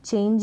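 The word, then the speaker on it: change: में भी ऐसा है चेंज में भी ऐसा है चेंज आधे न के रूप में और को प्रोनाउंस कर रहे हैं यहां पर और लास्ट में यह जो है साइलेंट है इसको प्रोनाउंस नहीं कर रहे हैं चेंज हो गया और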